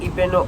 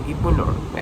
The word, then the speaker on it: Ibeno: So today I decided to tour you guys on the popular beach in Akwa Ibom State called the IBENO Beach, either IBENO or IBENO.